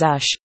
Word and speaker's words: Æ: x is just the letter x a is pronounced as ash and a12 is my contribution and it is just pronounced as a 12.